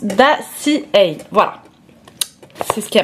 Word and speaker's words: Dossier: Donc ici il s'agit de la marque, alors ça se prononce pas du tout dossier, ça se prononce Dacia.